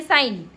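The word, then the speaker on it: sign: साइन करते हैं तो आपने देखा होगा एस आई जी एन लिखते हैं लेकिन हमें पता नहीं है कि उसको जी को क्यों नहीं पढ़ते हैं हम हमेशा यही पढ़ते हैं साइन लेकिन कभी ये नहीं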